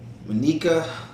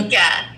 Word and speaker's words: Minka: You guys probably already know Monica. How you say it? is here? Minka.